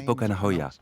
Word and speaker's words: Pokanahoya: Le nom de l'aîné se prononce Pokanahoya et le plus jeune, Palengahoya.